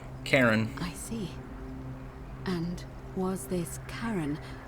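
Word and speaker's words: Charon: it's just as you described it only your pronunciation is a little off the name you heard wasn't Karen it was c h a r o n karen the ferryman the ferryman of the Dead karon who in exchange for the right coin helps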